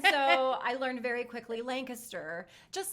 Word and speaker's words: Lancaster: of rudely told because i think i said lancaster everyone does i'm from florida and so i learned very quickly lancaster just like where my husband's from in washington